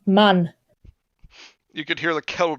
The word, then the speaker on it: Mann: yeah, in German, man is pronounced Mann.